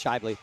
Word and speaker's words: Shely: Um Ally, if you're doing vault, sorry, it's Hannah Shely and um Lily Peterson is pronounced Shely, right? Yes, Shely.